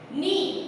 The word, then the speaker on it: knee: फिर से के जो है वो साइलेंट हो गया, नी यानी कि NEE, जैसे हमें लगता है कि NEE को यूज करता है, लेकिन ऐसा नहीं है, KNEE, नी, नाइफ, KNIFE, लेकिन